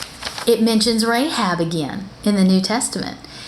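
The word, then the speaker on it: Rachab: h a b so they spell it a little bit differently but it's still pronounced rahab okay so who is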